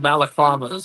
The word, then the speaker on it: balaclava: I gotta like wear a face mask or get one of those balaclavas or how's that pronounced?